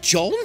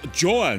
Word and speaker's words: Joan: No need, John. It's pronounced Joan.